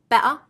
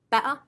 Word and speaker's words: better: something we have here so remember no flow of air better instead of better I'm still breathing that